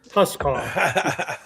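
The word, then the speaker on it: huscarl: How do you pronounce that? Huskar.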